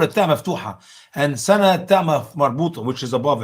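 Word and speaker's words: سنة: Usama, how do you say year in Arabic? Sinna? Sana. No, Sana.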